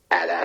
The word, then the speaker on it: AT-AT: they'll come around to the true pronunciation, which is and always has been addat. Adat, which they don't say it in any of the movies, correct?